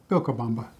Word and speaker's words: Vilcabamba: And the subtle differences, for example, your V's are pronounced like a B. So Vilcabamba is actually Vilcabamba.